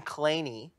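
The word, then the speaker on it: Kleene: He pronounced his own name Claney, but his dad pronounced his name Clean, and his son pronounces his name Clean.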